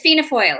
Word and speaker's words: Fianna Fáil: So you are it's Fianna Fáil. Is that the way it's pronounced? Yeah, Fianna Fáil is, that's right.